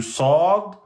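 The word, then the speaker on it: ص: Quand il est avec soukoun au milieu, eh bien, c'est le sad normal. Ers. Hein, vous le prononcez emphatique. Ers. Donc, il faut bien différencier. Ers de S. C'est pas pareil, hein. Là, ers, emphatique, de S. Sad, emphatique, sin aminci.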